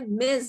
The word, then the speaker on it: Ms: মহিলাদেরকে অ্যাড্রেস করতে হয় মেজ দিয়ে। মেজ হচ্ছে MS, নট MRS, নট MISS। MS টাকে আমরা অনেকে মিস বলি, সেটা মিস নয়, সেটা হচ্ছে মেজ।